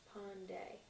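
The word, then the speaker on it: Panday: i space p a n d a y Pond day you ready press in your okay um so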